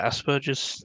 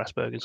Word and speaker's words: Asperger's: yeah, I have Asperger's syndrome or Asperger's syndrome, Okay. depending on how Yeah. you pronounce it.